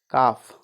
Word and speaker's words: cough: जैसे COUGH, काफ।